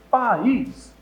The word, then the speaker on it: país: E exatamente por isso preciso tomar cuidado, porque, por exemplo, em país, você pronuncia bem o A, pronuncia bem o I, então separa, acontece que o I vai cair nessa regra do hiato tônico sozinho ou seguido de S.